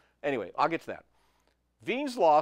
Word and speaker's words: Wien: All right the next one then is Wien's law, I know it looks like Wien, but it's pronounced Wien.